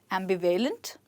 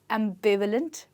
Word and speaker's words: ambivalent: word is pronounced as ambivalent no it's pronounced as ambivalent with the stress on be right so this is